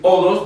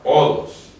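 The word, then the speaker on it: ὁδός: Pero el hecho de que va el espíritu rudo le cambia la pronunciación a la palabra. El espíritu suave no, pero el espíritu rudo sí, y lo hace más gutural. En vez de decir odos, diría odos. Odos.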